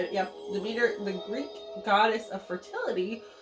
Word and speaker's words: Demeter: Demeter, I think that's how you say it, yep. Demeter, the Greek goddess of fertility, was represented by